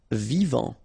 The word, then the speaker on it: vivant: Vivant. Final T not pronounced.